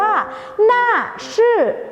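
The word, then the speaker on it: 那是: บอก ว่า นั่น คือ ภาษา จีน ออก เสียง ว่า หน้า ชื่อ และ ตาม ด้วย คำ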